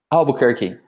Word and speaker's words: Albuquerque: Albuquerque. It is exactly like the city. Otavio Albuquerque is here with us, just like the city of New Mexico.